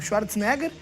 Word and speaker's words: Schwarzenegger: Mas esse cara aí, o Arnold Schwarzenegger, a pronúncia foi perfeita, eu acho, né? O Schwarzenegger, ele é um dos símbolos do fisiculturismo, cara, ou não?